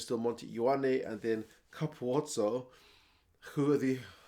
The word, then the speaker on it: Capuozzo: Left wing is still Monte Ioane, and then Capuozzo, who are the... I always go on about the pronunciation of that guy's name. His own coach calls him Capozzo.